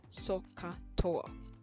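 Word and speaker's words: SOHCAHTOA: of the ratios and it is sokka toa try not to spell it logically it's s o h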